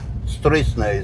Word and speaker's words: Stroessner: Alfredo Stroessner is his proper pronunciation.